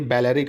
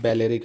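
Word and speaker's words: Balearic: आप इसके चक्कर में ये ना बोलो ये बेलेरिक आइलैंड है बहुत important बेलेरिक island B ए एल ई ए आर आई सी बेलेरिक island Spain का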